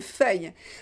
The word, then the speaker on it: feuille: Oui, j'écris sur une feuille de papier, sur une feuille. On écrit à la surface de la feuille. Ok? Bien prononcé, feuille, feuille. Vous avez y, feuille, feuille. Ok, c'est une syllabe, feuille.